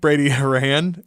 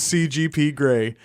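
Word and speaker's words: CGP Grey: gray and Brady gray Brady hurray no his name is cgp gray I said it wrong several times I thought you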